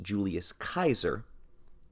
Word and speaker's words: Julius Caesar: both originate from Julius Caesar which is properly pronounced Julius Kaiser we can safely assume that he utilized both